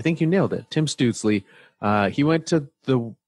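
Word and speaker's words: Stützle: said it was we all saw how to pronounce it yes do you want to take your best shot at it tim stootsley yeah i think that yeah i think you nailed it tim stoodsley uh he went to the the senators at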